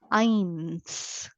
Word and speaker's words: ein: a sound of I when you have EI I together it will give a sound of I that is the second letter here so I read it as Ein okay in this